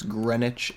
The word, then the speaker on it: Greenwich: where this was discovered it's spelled like that it looks like Greenwich but it's Greenwich England okay so we're going